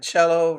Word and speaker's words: cello: sax runs with relax and cello runs with bellow and fellow interesting they have a